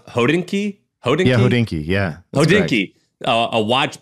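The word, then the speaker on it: Hodinkee: read it all the time but is it pronounced hodinki yeah oh dinky a watch blog that also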